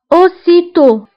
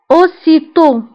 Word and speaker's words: aussitôt: auparavant سابقا الادفيرب الموالي aussitôt aussitôt aussitôt فبالنسبه الاوسيتو كتعني فورا aussitôt فaussitôt كنكتبوها بدوز اس وبالنسبة للأو كتكون فيها أكسان سيركونفليكس وفي آخر الكلمة كنكتبو تي ولكن ما كنطقوهاش أوسيتو بيانتو بيانتو كتعني قريبا